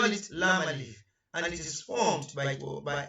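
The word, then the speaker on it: لا: Master alif, it is lam alif, and this is the form.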